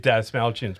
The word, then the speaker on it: Dastmalchian: Dave Dastmalchian's perfect as Jack. Dastmalchian, that's how you say it.